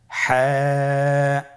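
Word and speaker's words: ح: হা হরফটি কিভাবে উচ্চারিত হবে? হা হরফটি উচ্চারিত হবে কন্ঠনালীর মধ্যখান হতে।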